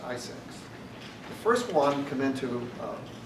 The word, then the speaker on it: ISAC: And one of those measures that they recommended was the creation of industry sector organizations called Information Sharing and Analysis Centers, ISAC, pronounced ISACs.